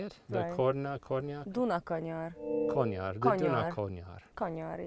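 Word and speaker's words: Dunakanyar: Duna Konyar.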